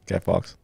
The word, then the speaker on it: Guy Fawkes: Yeah, Guy Fawkes.